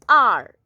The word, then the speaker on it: hour: So this R is pronounced as O-U-R-R. We do not pronounce H. H is not pronounced. We only say R.